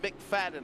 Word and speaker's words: McFadden: It's pronounced McFadden. I think I said McFadden, Fadden.